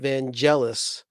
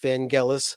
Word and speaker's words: Vangelis: we did somebody asked about vangelis now i pronounced it vangelis but i that's a mispronunciation his name is pronounced van gaalis somebody pointed me to a uh interview with